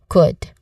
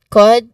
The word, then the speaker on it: could: There's so many silent letters, and one of those words that has silent letters is the word could with a silent letter L.